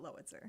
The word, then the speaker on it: Lowitzer: me the what to compare it to like Howitzer Howitzer spelled like Howitzer but lowitzer Lois Lois sir okay